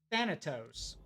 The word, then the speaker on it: Thanatos: Everyone keeps calling me Thanos. No, it's Thanatos.